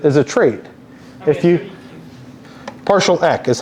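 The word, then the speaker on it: PartialEq: e is a is a trait if you partial e is how it's pronounced look here if you do RS partial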